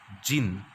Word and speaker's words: Djinn: Even the clever Djinn, the pronunciation of this is jinn, right?